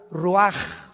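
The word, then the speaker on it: רוח: exhaló Isaac el Roach así como suena se pronuncia la c en hebreo como J ruaj se le só y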